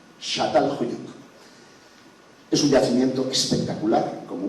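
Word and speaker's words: Çatalhöyük: Y se pronuncia Shatal Huyuk. Shatal Huyuk.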